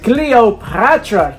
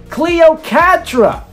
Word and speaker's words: Cleocatra: Next is Ms. Cleopatra. I said it wrong again. Cleocatra.